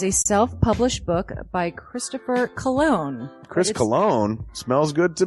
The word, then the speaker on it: Colon: It is a self-published book by Christopher Cologne. Chris Cologne smells good to me. But Look at her. That broke that fucking cold little exterior. He's like, hee. But it is spelled Colon.